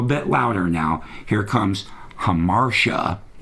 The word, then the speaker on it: Hamartia: Here comes Hamartia, pronounced correctly.